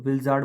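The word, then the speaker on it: blizzard: पहला ऑप्शन है avalanche, second option है विलजार्ड, यहाँ पे आर जो है वो साइलेंट होता है तो विलजार्ड बोलते हैं इसको, थर्ड ऑप्शन है ग्लेशियर, फोर्थ ऑप्शन है टाइफून।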